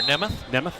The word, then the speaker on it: Nemeth: Donovan Goings of South Fayette taking on Ryder Nemeth of Wash High. Let's go short E there, Nemeth.